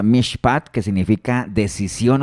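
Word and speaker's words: משפט: de una palabra hebrea que es mishpap, así se pronuncia, mishpat, que significa decisión o sentencia.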